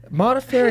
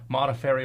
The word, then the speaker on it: Modafferi: I'm also looking forward to having my name be easily spelled and pronounced. Roman. So easy. Modafferi is not that difficult.